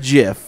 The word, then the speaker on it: GIF: said GIF. That is the proper pronunciation.